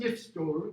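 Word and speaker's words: gifstol: Gretan yifstor, even though this is pronounced with a ya, it still alliterates with the hard g, right?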